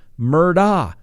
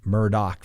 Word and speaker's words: Murdaugh: now you may say hey scott you've been pronouncing this murdah that's right i have that's the way it